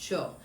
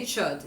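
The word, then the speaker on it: Chöd: Because it has a D when it gets translated, and so they just kind of fake the pronunciation.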